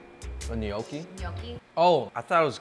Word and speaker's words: gnocchi: It's the G is silent. It's okay, yes. The G is silent. Mm-hmm. Just like in lasagna. Ganache, wow.